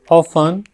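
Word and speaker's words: often: ही एंड his friends, वे और उनके मित्र, ऑफन, यहाँ पे टी साइलेंट है, प्रैक्टिस्ड मेडिटेशन, वे और उनके मित्र अक्सर ध्यान लगाने का अभ्यास करते थे।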